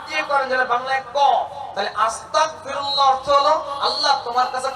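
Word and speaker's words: أستغفر الله: একটু ভুল হয়ে যায় এখানে দিয়ে বাংলায় গর উচ্চারণ কিন্তু অনেকে আস্তা যদি কাফ দিয়ে করেন যেটা বাংলায় কলে আস্তাগফিরুল্লাহ অর্থ হল আল্লাহ তোমার কাছে ক্ষমা চাইতেছি আর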